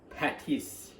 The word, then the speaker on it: patis: And also my wife's been laughing at me because the fish sauce, I actually pronounced it wrong. It's patis.